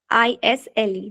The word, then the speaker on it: aisle: Third one, aisle. AISLE, that is aisle. As in island, the spelling is ISLAND, but we don't call it island, we call it island, the same as isle.